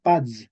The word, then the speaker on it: paz: Entonces, en español medieval se escribía paz con Z, pero se pronunciaba pads.